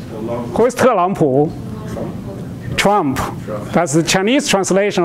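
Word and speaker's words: 特朗普: So first, I'll give you a quiz to pronounce some American names. Te Lang Pu. Who is Te Lang Pu? Trump. That's the Chinese translation of. One more time. Te Lang Pu.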